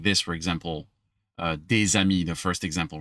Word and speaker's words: des amis: I'm going to take that S of des, which I'm not pronouncing usually, and I'm going to create a bridge because the next word starts with a vowel.